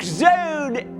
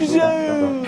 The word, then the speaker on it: zone: And just as we've seen before, an E is silent but strong. It makes the vowel sound long. Joke zone.